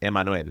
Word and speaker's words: Emmanuel: They pronounce my name the Spanish way, Emmanuel.